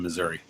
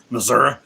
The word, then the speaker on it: Missouri: Missouri. Technically, it's pronounced Missouri. Some New Yorker gave me a lot of grief for that. I'm like, fine, whatever. It's Missouri.